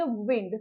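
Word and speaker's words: wind: मतलब होता है हवा अब इसे वाइंड नहीं प्रोनाउंस करेंगे इसे आप पढ़ेंगे विंड तो कोल्ड विंड मतलब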